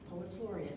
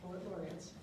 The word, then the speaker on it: Poets Laureate: So Poets Laureate, not Poet Laureates.